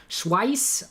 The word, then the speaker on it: Schweiz: Schweiss rhymes with price.